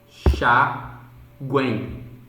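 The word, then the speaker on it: enxáguem: Enxaguem. Esse GU ele apenas se anexa a essa terminação para formar essa sílaba Gwen. Então a última sílaba é Gwen e não é M, tá bom?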